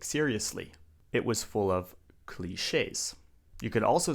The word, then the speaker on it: cliché: It's cliché. Now this is a French word.